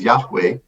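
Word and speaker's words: יהוה: So 4 Hebrew characters, which we pronounce as Yahweh, but are unpronounceable, became the name for that God.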